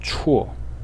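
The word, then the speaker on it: 辶: And it is pronounced chuo.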